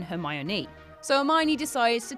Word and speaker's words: Hermione: pronounce her name properly he calls her her my own rather than her my Anu so a miney decides